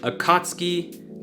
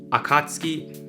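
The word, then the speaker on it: Akatsuki: people who say Kakashi if we apply these rules to this word we would go from akatski to akatski akatski I also chose this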